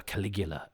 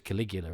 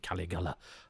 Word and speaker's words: Caligula: Although I was first introduced to Caligula in um Judge Dread where there was Judge Caligula and they told essentially the same story. Although as a youth I pronounced it Caligala.